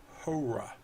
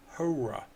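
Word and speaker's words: ὥρα: our fourteenth vocabulary word hoorah hoorah ruff breather mark hoorah meaning an hour an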